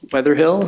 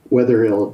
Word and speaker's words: Wetherill: for the commission um the witnesses at Kenneth weatherhill he's on zoom and this is just for